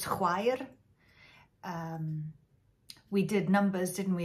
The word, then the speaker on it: chwaer: CH is that sound that you would get. Sister in Welsh is chwaer.